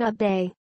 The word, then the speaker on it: Abe: AFP Getty Images Abe pronounced a bay golfed with President Trump